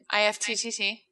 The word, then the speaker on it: IFTTT: IFTTT. Yeah. Yeah. IFT is how you say it.